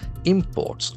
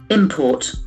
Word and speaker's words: import: Also, if it is a noun, the accent falls on the first syllable. Import. Import.